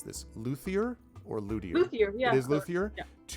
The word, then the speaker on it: luthier: In a later fellowship phase, you could return to the same, I'm going to mispronounce this, luthier or luthier?